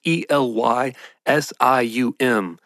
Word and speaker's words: Elysium: saying their name right I couldn't find a pronounce a pronunciation of this online it's e l y s IU M Elysium that's that's how I'm going to say it so they're taking this